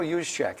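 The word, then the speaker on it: Juszczyk: was the Baltimore Ravens fullback how do you pronounce that guy's name Kyle yusek and every year you've been here he's made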